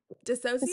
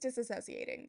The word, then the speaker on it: dissociating: Dissociating. Dissociating. Dissociating. There's an extra syllable in there. I'm just disassociating.